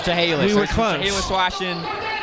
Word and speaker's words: Chehalis: It's Chehalis. Chehalis. Thank you to our producer Dave Norman. In the truck. It's Chehalis.